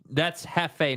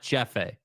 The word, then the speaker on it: Jefe: So wait, that's Jefe, not Jeffe. Is that right? See how my name is Jeff. See how it's spelled? That's not Jeffe. That's Jefe.